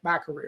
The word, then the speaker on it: Macari: And what happened here was Macari, we'll call it Macari, okay? Just to settle on the pronunciation here.